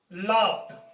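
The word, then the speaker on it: laughed: जैसे ही लाफ्ड, इसकी प्रोनाउंसिएशन जब भी प, क और फ, इसके बाद ईडी आए तो ये ईडी ना बोल के ये ट की साउंड देगा।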